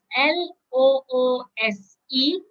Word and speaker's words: loose: you can't find it now let's look at l o o s e loose loose again over here if you have